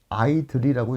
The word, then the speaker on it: IDLE: idl이라고 나와요 아이들이 그래서 아이디 le를 그냥 쉽게 아이들이라고 읽으면 되겠습니다 아이들 그래서 파이썬 쉘이라고